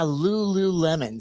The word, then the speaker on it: Lululemon: called the Lululemon oh is that how you pronounce it yeah Lululemon so um anyway I end up connecting with